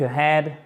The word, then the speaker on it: ahead: Ce qui nous donnera, par exemple, it is time to look ahead. Il est temps, it is time to look ahead. Ahead, accent tonique, vous l'avez noté ici, là, sur la deuxième partie du mot.